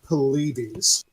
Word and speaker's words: Paulides: Well, yeah, I mean, and we're going to be going into David Palladius, or however you pronounce his last name, the one that It's did the. Go ahead. It's David Paulides.